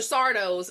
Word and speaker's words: Sardo: Sardo's fucking house of trinkets. Like it's Sardo. No Mr. accent on the dough.